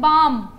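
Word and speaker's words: balm: कुछ word silent होते हैं, हम लिखते हैं बाम, बाम के अंदर एल नहीं बोलते हम।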